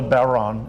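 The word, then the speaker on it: bodhrán: James's gate and what exactly is this drum called it's called a baron as Jane said it's spelled Bodh RN if in terms of an H after a consonant in Irish usually changes these are this is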